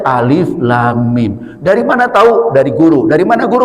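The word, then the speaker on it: الم: Apakah ini alim? Alam alim alum ulam apa? Tidak. Itu bacanya alif lam mim.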